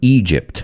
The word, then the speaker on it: Egypt: Oh, and I want to look at the pronunciation of Egypt. A lot of my students say Egypt. It's not Egypt, it's Egypt. And just think of the song, Walk Like an Egyptian.